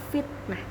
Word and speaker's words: fitnah: Contoh yang kedua, fitnah. Fitnah menggunakan huruf F, maka harus dibaca fitnah, bukan menggunakan huruf P, dibaca fitnah. Jadi yang betul adalah fitnah.